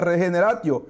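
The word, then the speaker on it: regeneratio: Es un término latino Es un término latino que se pronuncia regenerati regenerati quiere decir es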